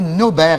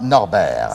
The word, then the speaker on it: Nobert: 5 5 à jacqueline j'ai peut-être fait une erreur dans la façon dont j'ai prononcé votre nom c'est cgt nobert et non pas norbert cesse alors voilà c'est